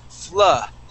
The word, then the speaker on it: flood: with a double O now the double O in English is really confusing sometimes we say uh okay sometimes we say O Okay well which one excuse me which one do we use well these words just have to be learned okay because we don't have a hard set rule okay this word here is flood flood flood okay good